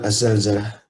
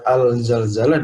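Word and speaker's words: الزلزلة: di Indonesia adalah surat Az-Zalzalah. Surat Az-Zalzalah. Penting diingat bahwa banyak yang membacanya surat Al-Zalzalah dan ini kurang tepat sebenarnya. Ini kurang tepat karena zai huruf alif lam syamsiyah hingga dia Az-Zalzalah.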